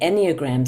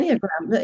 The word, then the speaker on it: Enneagram: Jennifer Joss's 30-year relationship with the Enneagram symbol pulled her into a deep and life-changing